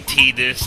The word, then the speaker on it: Tidus: And by the way, yes, I know the official pronunciation of Titus is actually Tidus.